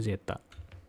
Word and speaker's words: zeta: potensial Zeta ya ini ini huruf heenanii yang bacanya itu zetta Nah untuk membicarakan atau